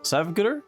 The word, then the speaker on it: Savguder: We're going to be looking at his epic castle Savguder. Is that how it's pronounced?